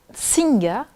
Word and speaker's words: Nsinga: Singa, mais ça s'écrit différemment. Donc en fait, ça s'écrit N-S-I-N-G-A et je crois qu'il y a déjà une histoire avec ton nom de famille.